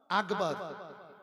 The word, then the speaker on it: আকবার: আল্লাহু আকবার, আল্লাহু আকবার, আকবার বলে, গ পড়ে, ওটা গ হবে না, ওটা ক। আল্লাহু আকবার, আল্লাহু আকবার। কয়ে খ উচ্চারণ হোক, লক্ষণ আছে, কিন্তু গ হবে না। গ হয়ে গেলে ভুল হয়ে যাবে আজান।